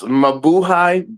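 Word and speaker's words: Mabuhay: Maboohai Maboohai Don't be like your little cuck out there.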